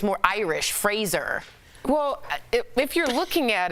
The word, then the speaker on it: Fraser: So it's Brendan Fraser. Yeah. Like Razor.